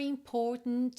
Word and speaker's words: important: Was Always something more important to do eu Até marquei esse meio aí da palavra important com verde né porque a gente tem important to do é uma uma pronúncia